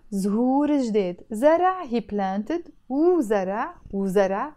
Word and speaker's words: وزرع: وزرع, وزرع, pronounced as really fast. I don't say وزرع, no, I have to say وزرع as if it's just two syllables.